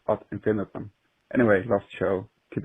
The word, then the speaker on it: ad infinitum: It's not pronounced Ad Infinitum, but Ad Infinitum.